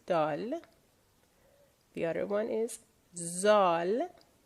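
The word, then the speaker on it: دال: So, dal, that's how you will pronounce the letter in Farsi, dal.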